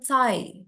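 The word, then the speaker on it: thigh: to eat chicken Thai bukan chicken th tapi chicken Thai CH ya gh-nya ini eh dia fungsinya untuk memanjangkan Thai ini kan I berarti akhirnya kan jika jadi chicken thi Thai dia agak panjang gitu Ini juga e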